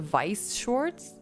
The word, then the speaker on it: Weiss Schwarz: Isn't Schwartz correct? That's how... Oh, is it Vice Shorts?